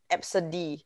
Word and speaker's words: ABCDE: that she knew a kid called absa d spelt a b c d and it's pronounced